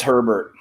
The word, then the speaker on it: Herbert: How do you pronounce it? Herbert. It's Herbert.